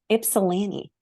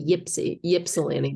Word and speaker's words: Ypsilanti: how to say that Ypsilanti am I saying it right Ypsilanti ipsilanti wow I'm like I don't even know how to pronounce a why a lot of people people say Gypsy Ypsilanti but it's actually yeah awesome thanks Private